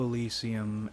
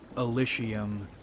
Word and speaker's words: Elysium: Today we're talking a bit about Disco Elysium and a few other things. The word is apparently pronounced Elysium, but I hate that pronunciation, so we're going with Elysium.